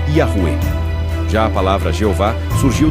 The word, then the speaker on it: Yahweh: Em português, surgiu a forma Javé, e entre estudiosos modernos é comum encontrar a reconstrução Yahweh, pronunciada como Yahuwah.